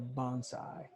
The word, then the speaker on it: bonsai: Isn't it a nice bonsai?